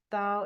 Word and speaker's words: Tao: you'd like to find out more about the da Academy da is spelled Tao and you can go to Da